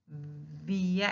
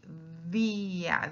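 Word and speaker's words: día: and we say via, see how am I pronouncing that word via? I'm putting the tongue in the middle of the teeth, the opposite of English. So I say via, that's why we call it interdental.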